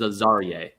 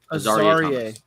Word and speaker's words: Azariah: pronunciation for this one is Azariah. Azariah.